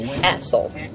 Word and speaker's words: Hassel: It's, you know, it's spelled like Hazel, but apparently everybody pronounces it as Hassel.